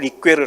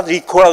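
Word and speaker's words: Ricœur: 원래 프랑스 발음으로는 폴 리퀘를 해요. 근데 미국 사람들은 다 자기식으로 읽으니까, 여기 미국 사람 다 리코라고 읽고, 리코스타와 같이 리코라고 읽는데, 그런 이 사람도 프랑스의 철학자예요.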